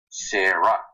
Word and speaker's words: Sarah: But in Sanskrit we don't pronounce the last A. Sarah. So just Sarah.